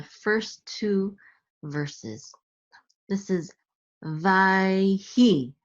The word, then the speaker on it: ויהי: This is Vayhi, Vayhi. This Shava is silent because it's in the middle of the word.